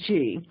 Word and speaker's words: Qi: behind this but when you see that symbol Chi is basically the inductive power standard so you